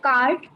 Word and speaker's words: cart: what is the pronunciation of cart? Cart. The R is silent over here.